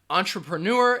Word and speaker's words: entrepreneur: who starts a business it has four syllables entrepreneur with no entrepreneur there you go entrepreneur entrepreneur person who starts a villa business entrepreneurs say it after me entrepreneur entrepreneur entrepreneur and you are going to have that schwa sound in that second and third syllable ah try pro nor entrepreneur alright the next word